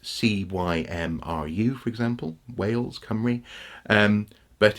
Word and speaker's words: Cymru: welsh either in fact the word for welsh come reg mm or whales come v or Welsh people come ro it's spelt cymru for example whales come ree and but it's it's pronounced come re there's